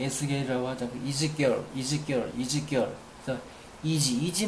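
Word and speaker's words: Ezekiel: 나에서 에스겔이라는 사람 이름인 것 사람 에스겔 영어 발음이 에스겔이라고 하지 않고 이즈 girl이 is결 girl이 is즈 girl 그래서이지이지 많이 써먹죠이지 이지 빵 이름이에도 이지가 붙는데 성서에 나온 내용입니다.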